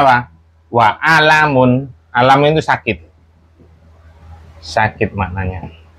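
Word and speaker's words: أَلَمٌ: Mau dia di tengah misalkan, nggak boleh. Walamun nggak boleh. Tetap bacanya apa? Wa alamun.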